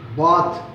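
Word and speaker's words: बात: உச்சரிப்பு வந்து மெதுவாக சொல்ல வேண்டும். பா எத் பாத்.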